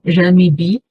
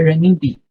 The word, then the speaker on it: renminbi: Só que esse ren, né, que eu tenho um adendo antes, ela tem 2 tipos de pronúncia. Pode ser ren, igual no inglês o R do R, né, ren, ou pode ser esse R com um pouco de J também, jan, jan, ok?